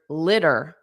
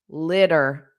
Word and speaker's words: litter: Now in American English, this student is asking to pronounce the word litter. In American English, it's pronounced litter. Dur dur. Those two t's become a soft d.